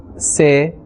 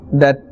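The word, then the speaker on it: ث: Here as well, do not say the or se or sa. Rather, tha.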